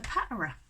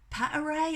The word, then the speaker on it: paterae: Is it paterae? I said, I keep saying paterae. She said, right, if they're on their own, paterae. If you get a bunch of them, paterae.